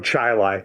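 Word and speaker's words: Chili: dirt road in the town of chaii not Chile sorry I'm sorry is it chai I'm sorry it's ch rhymes with hiai nobody knows why the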